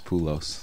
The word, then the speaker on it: Poolos: No H, it's Poolos.